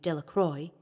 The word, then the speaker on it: Delacroix: Bobby and Harry Jones and Dickie Delacroix, the villagers pronounced this name Delacroix, eventually made a great